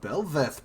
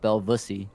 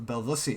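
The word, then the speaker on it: Bel'Veth: seraphine is pretty strange bellevath pick coming out of nowhere blind jungle four always slept on no no you said the name wrong it's actually uh pronounced belvisi or belvussy excuse me I don't know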